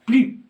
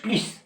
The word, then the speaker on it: plus: الوغ هنا كيما كتلاحظوا بلو باش متبوعة ان ادجيكتيف، وهاد لادجيكتيف كومونس با كونسون، الوغ كنطقو بلو، ما كنديروش بليس، سي فو.